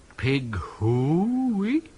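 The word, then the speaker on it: pig hoo-oo-ey: Pig hooey. Not quite right. The first syllable should be short and staccato, the second long and rising into falsetto, high but true.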